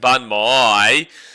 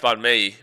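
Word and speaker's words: bánh mì: So we have this joke here on the channel that it's pronounced bun my and obviously it's pronounced bunme but I my brain because so for so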